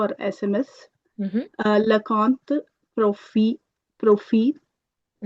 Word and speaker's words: profil: SMS, Mhm, le compte, profil, profil, mhm. profile, sorry, le, Correct. That's a pronunciation exception. Whenever a word ends with L, we pronounce the L.